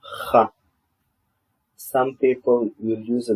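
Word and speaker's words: כ: Kaf, Kaf. It makes the sound of Ka or Cha.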